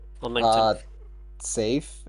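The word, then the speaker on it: Saif: Uh, safe. S A I F. Is that your real name? That's That is my real name. You just pronounce it like Safe.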